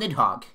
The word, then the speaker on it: Nidhogg: It is called Nidhogg.